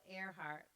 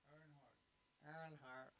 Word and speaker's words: Earnhardt: your options are a dale earhart am i saying that right what earnhardt earnhardt i don't know about y'all